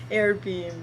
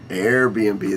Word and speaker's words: Airbnb: uh a bnb um am i saying it right no i don't know what is it called airbeam airbnb there we go there we go so